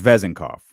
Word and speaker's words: Vezenkov: changed since Friday vezenkov so it's vezenkoff enkov all right I don't know that's what we'll go it's all about syllables I guess um so we'll we'll